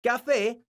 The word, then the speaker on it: café: La palabra café es una palabra aguda porque su sílaba tónica es la sílaba fe.